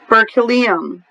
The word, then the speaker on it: berkelium: and here it is so I can have Berkey Liam berkelium like Berkeley they must have found that